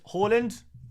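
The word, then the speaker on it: Haaland: do you call Halland Halland love your content you're the best bro um glad you asked I'm not um it's basically I try new the pronunciation A little bit closer to the Norwegian pronunciation I do try and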